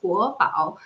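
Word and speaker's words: 国宝: So national treasure, and the pronunciation in Chinese is guobao, and also the national security guards or national security police is also called guobao. It's a land bao, it's bao wei security. So panda and security police, the Chinese pronunciation is exactly the same, guobao.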